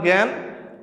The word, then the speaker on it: জ্ঞান: দেখো এখানে তোমার জ্ঞান, উচ্চারণটা হওয়ার কথা ছিল গান, কারণ এখানে স্বরে আর